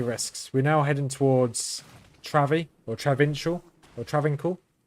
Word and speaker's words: Travincal: We're now heading towards Travi, or Travincial, or Travincal. How do you pronounce it? Travincal.